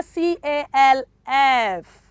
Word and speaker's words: calf: to k-l-o-w l-e-d-g-e knowledge which of the letter is silent okay three s-o-l-e-m-n m s-o-l-e-m-n okay that is solemn okay and number four c a l f baby calf which of the letter is silence